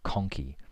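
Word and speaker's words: conchae: I'll spell that. C O N C H A E. The nasal conci. So these cartilagynous plates called the nasal conci.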